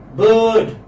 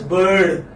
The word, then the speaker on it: bird: Girl, church, turn, burn, learn, bird. Since your ears are accustomed to listening to ra sound, even if I'm not pronouncing ra, but you would hear that I'm saying ra.